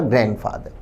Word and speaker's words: grandfather: एलिंग ग्रैंडफादर, याद रखें ग्रैंडफादर और ग्रैंडमदर में डी को नहीं बोलना चाहिए, सो सही प्रोनाउंसिएशन होगा ग्रैंडफादर।